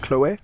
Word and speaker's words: Chloé: Number two, you modeled for French luxury brand Chloé. Am I pronouncing that right? Yes. Is it Chloé during the 2020 Paris Fashion Week?